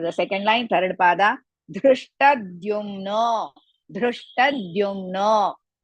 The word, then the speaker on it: Dhrishtadyumno: Dhrishtadyumno. Dhrishtadyumno. You should not say Dhrishtadyumno, no. In between Drishta and Dyumno, add half the Dhrumna.